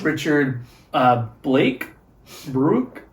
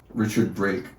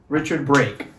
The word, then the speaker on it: Richard Brake: and it's the cop in the restaurant is Richard Brooke? How do you say that? Richard Brake. Richard Brake.